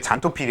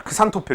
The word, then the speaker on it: 잔토필: 옛날에는 이게 잔토필이 아니라 크산토필 이렇게 배웠었거든요. 이게 X로 시작하는데 잔토필의 그 스펠링이 X로 시작하는데요. 그 일본식 발음의 그 우리의 영어 발음은 일본식 발음의 영향을 굉장히 크게 받았기 때문에 X로 시작하는 발음을 일본이 하는 식의 발음인 크산을 많이 썼었어요. 그래서 뭐 크산토필 이렇게 옛날엔 불렀었는데 사실 실제 발음이 잔토필이니까 그쪽으로 쓰는 게 당연히 맞겠죠. 지금은 이제 잔토필.